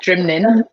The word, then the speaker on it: Nc'nean: Yes, Nc'nean.